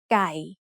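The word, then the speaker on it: ไก่: This is a middle-class consonant, so according to the rule we just learned, ไ ม ้ เ อ ก gives it a low tone. So we pronounce this word as ไ ก ่ Maybe you already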